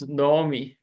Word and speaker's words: Naomi: in our church okay so should be pronounced as Nomi notomi so all English